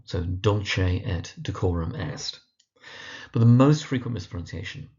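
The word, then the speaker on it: Dulce et Decorum Est: So that's Dolce at decorum est on the dull and the core. So Dolce at decorum est.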